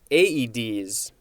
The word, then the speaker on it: Aedes: It looks like the A and the E are both separate syllables, so this is AEDs.